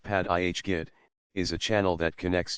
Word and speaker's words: Paerdegat: from shore parkway P to Gat Basin pronounced pad IHG is a channel that connects to Jamaica Bay